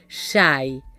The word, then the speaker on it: Xay: La denominaron a Shay, a la cosa o el algo, la denominaron Xay. ¿Por qué? Porque la X en el castellano antiguo se pronunciaba como una SH del inglés, Shay.